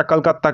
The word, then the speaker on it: कोलकाता: Actually जब मैं south में था, कर्नाटका सेंट्रल यूनिवर्सिटी में, तब सब लोग कोलकाता को कलकत्ता प्रोनाउंस करता था, तो इसलिए मेरे मुंह से ये प्रोनाउंस निकल गया। हालांकि अब इसका प्रोनाउंस कोलकाता है।